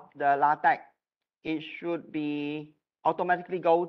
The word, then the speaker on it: LaTeX: should be pronounced as LaTeX. So the X should not be pronounced as X, but it should be pronounced as a K.